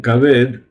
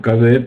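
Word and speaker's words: כבד: Pero en Kaved la Haf se pronuncia Kaf. Y le ponemos una C que se pronuncia K, como en castellano, Kaved, que es el hígado.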